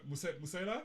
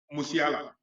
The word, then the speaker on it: Musiala: I mean, that is Musela, or how do you pronounce his name? Musiala.